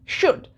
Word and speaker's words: should: remember one more thing while pronouncing should L is silent so it's almost like wood but W being W